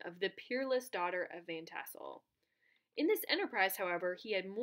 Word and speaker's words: Van Tassel: Is it Von Tassel? Yeah, Van Tassel.